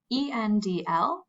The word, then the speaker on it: endl: So the endline word is written ENDL and is pronounced endl.